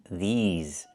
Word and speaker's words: these: I need the long E like green beans. These. Plus the Z sound like in zebra and zipper. These words. Not this words, but these words.